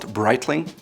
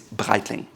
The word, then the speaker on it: Breitling: It's not Breitling, it's Breitling. The Germans, similar to the French, have the R that comes from the back, and you just say Breitling.